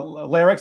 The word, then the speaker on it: Lerrix: r r iix the the name lycs came from squirrel backwards phonetically the word squir if you took this word squirrel and flip it it kind of sounds like larcs I like squirrels um